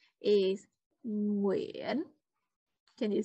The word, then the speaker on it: Nguyen: For example, the most popular Vietnamese family name is Nguyen. Can you say it? Nguyen.